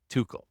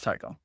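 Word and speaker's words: Tuchel: think is I think his last name is pronounced Tuco no it's Tao I I disagree we'll have to we'll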